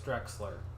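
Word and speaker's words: Drechsler: does such a good oh did I mispronounce it again it's Drexler oh no but yeah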